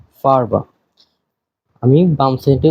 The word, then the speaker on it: Farbe: যার অর্থ রং রং একটা জিনিস মাথায় রাখবেন এখানে এর এটা চেষ্টা করবেন গলা দিয়ে উচ্চারণ করতে নট ঠোঁট দিয়া হুম কেননা ডয়ে এর উচ্চারণটা এমনই যে ওরা ডিরেক্ট ঠোঁট দিয়ে বলে না ওরা গলা থেকে উচ্চারণ করে ইভেন 90% কেসে এর উচ্চারণ হয়ই না হুম তো এটা চেষ্টা করবেন এর উচ্চারণটা ভিতর থেকে গলা থেকে আনার আপনি ট্রান্সলেটর বা গুগল থেকে দেখেন অডিওটা দেখবেন যে এর পুরাপুরি উচ্চারণটা করে না তো আমার ক্লাসে এর